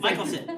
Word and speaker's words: Michelson: Michelson, yes.